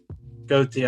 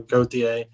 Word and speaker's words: Gauthier: is a kid named colton gauthier goatee i think that's how you say his name it's g-a-u-t-h-i-e-r go-ta he's um he's a